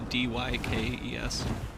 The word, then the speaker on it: Dykes: I believe True Stream Media is run by Aaron and Melissa Dykes, or Dix. I don't know how you pronounce it. It's Dykes.